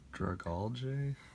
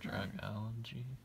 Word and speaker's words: Dragalge: Dragalge? I don't know how to say it. Dragalge? I'm sure someone can correct this. Yeah. It's the Mott kelp, so it might be Dragalge, like algae.